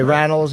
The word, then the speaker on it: Randells: And in the studio, it's Andrew Randells, is how you say it? Right. Okay, Randells and Rory O'Malley, Josh Gad, and Nikki M.